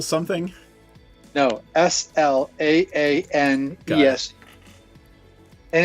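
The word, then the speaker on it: Slaanesh: Here, it's spell it. L. Herald. Herald. Yeah, but of L something. No, Slaanes.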